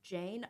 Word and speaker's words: Jayne: So her name is spelled Jayne, not Jane, but it's Jane underscore Ito Salon.